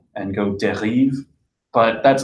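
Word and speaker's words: dérive: Now, before we start, I think it's important to make a phonetic distinction between derive and derive, okay? I've been hearing it pronounced two different ways, and Debord is not trying to talk about the American English word derive, like to draw something from something else. He's talking about derive, which loosely translates to drifting.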